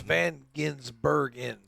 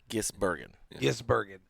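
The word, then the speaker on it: van Gisbergen: It's Van Ginsbergen. Gisbergen. Terry always called him Van Ginsberg. And it's just now hit me that Terry did not say his name correctly.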